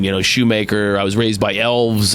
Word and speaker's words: Shoemaker: They mispronounced it. They put a um lot like I'm off the boat from Austria or they'll say Greg or Chris shoe marker. It's Craig Shoemaker.